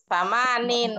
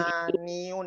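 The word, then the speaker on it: ثمانين: Samanin wa isruna. Cakep, itu dia jawabannya. Samanin wa isruna. Atau Selain samaniun ya, samaniun ya. Samanin. Kalau samaniun itu salahiyun, dirga. Samanin. Jangan dimunculkan iyanya. Pakai tanwin kasroh saja.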